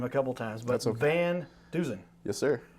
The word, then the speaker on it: VanDusen: mess up your name a couple times but van duen yes sir said it right set it right